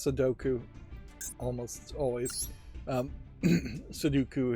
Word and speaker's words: Sudoku: Sudoku is what I often mispronounce it as if it was like Count Dooku from Star Wars.